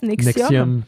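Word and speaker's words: NXIVM: comment est-ce qu'on prononce? Nexium.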